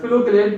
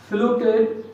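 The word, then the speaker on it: phylloclade: देखिए मैंने यहाँ मेंशन कर रखा है फिलोक्लेड एंड क्लेडोल। ये आपने सुने होंगे। फिलोक्लेड या फिलोक्लेड भी प्रोनाउंस करते हैं बहुत से लोग इसको, PHYLOCLAD फिलोक्लेड।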